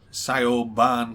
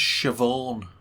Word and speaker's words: Siobhan: and i says uh can i speak to sayo bahn please and she says it's pronounced siobhan it is in it